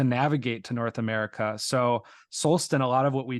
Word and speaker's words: Solsten: break down the word, and I'm pronouncing it with an American accent here, I'm not pronouncing it in a Swedish or a Icelandic accent. But if you say soul, it has that word human, that soul, and then sten, stone.